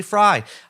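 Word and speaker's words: Frey: yeah chapter 25 with james fry f-r-e-y fry everyone says frame but it's actually fry i learned while i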